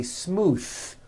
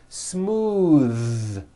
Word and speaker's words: smooth: ends of words smooth believe it or not the th sound in smooth is voiced most foreign speakers say this word incorrectly they say smooth with an unvoiced th but it's voiced smooth bathe the word bath